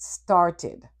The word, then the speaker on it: started: The ed is not ed. It's itid. So it started the T sound after voiceless sounds.